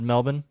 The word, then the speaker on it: Melbourne: I'm like, because I had someone from Melbourne tell me it's Melbourne and not Melbourne, and I listened to them.